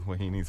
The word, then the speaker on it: wahine: Wahinis. Wahinis. Okay. Antoinette. I didn't know how to pronounce that, but yeah, same.